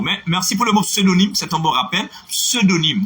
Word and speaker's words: pseudonyme: Il y en a plein de mots, et ce Valérie, il y a pseudonyme, il y en a plein, il y en